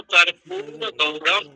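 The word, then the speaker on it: कर्पूरगौरम्: तो जब आपको पढ़ना है तो कर्पूर गौरम दीर्घ उच्चारण करना पड़ेगा।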